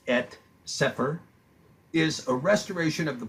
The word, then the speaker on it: Cepher: etc this collection of writings in the etc pronounced at separ is a restoration of the books traditionally recognized